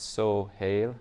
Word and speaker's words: Sohail: It's Sohail. It's like it was so haily that I couldn't drive to work.